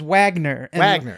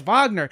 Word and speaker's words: Wagner: Anyway, she pronounced like the composer Wagner as Wagner. And she brought it up in class, and it's like, it's Wagner. So not everybody knows that is the thing.